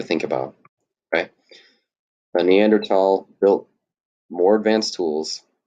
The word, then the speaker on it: Neanderthal: The correct pronunciation, I believe, is Neanderthal. The T.